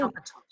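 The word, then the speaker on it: DockATot: How did you pronounce it? Docker tot.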